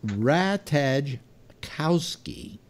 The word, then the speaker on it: Ratajkowski: to can't pronounce on it's a rat hedge Kowski were arrested yesterday according